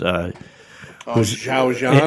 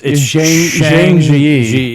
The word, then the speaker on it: Zhang Ziyi: But as far as the lead actress, Zhao Zhan. it's Zhang Ziyi. Yeah, it's really hard to pronounce in English, but she just blows that movie away.